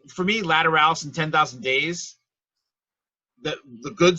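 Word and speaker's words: Lateralus: Uteralis or something or whatever. That's an L. That's Lateralis.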